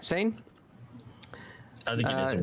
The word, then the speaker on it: Seine: side of the road, you will see the Seine, which is the river. Did I say that right? Seine?